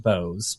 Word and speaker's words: Boaz: Freedom by David Bose it drives me crazy that he pronounces it Bose because it is like how you spell Boaz in the Bible right yeah but but apparently he likes it pronounced Bose but yeah the libertarian